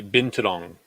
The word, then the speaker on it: binturong: It kind of sounds like been too long.